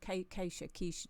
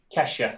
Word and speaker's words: Kesha: Keisha tune, is it? Kesha, I think it's pronounced.